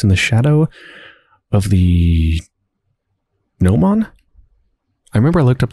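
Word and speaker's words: gnomon: the shadow of the Noman I remember I looked up that word before it had something to do with a sundial hold on yeah it's pronounced Nome on its the projecting piece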